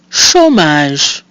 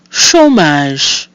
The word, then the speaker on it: chômage: So we have O with our accent circumflexe, which is pronounced O, the letter A, which is pronounced A, and again our silent mute E at the end, giving us chômage.